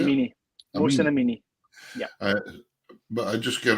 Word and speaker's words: Mohsen Amini: Mohsen Amini.